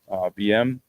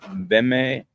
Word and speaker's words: BM: He lives in a place right near the Supermercado BM. That's in the middle of Uvita. And BM is pronounced Beme in Spanish. At least it's similar to that.